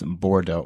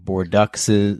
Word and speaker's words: Bordeaux: like super hyped but so many people had no idea how to pronounce bordeaux we had like bordux's board ducks was the most common mispronunciation for that black and